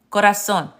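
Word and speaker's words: corazón: So just remember that, yes, the Spanish Z sounds like an American S. Zapato, corazon.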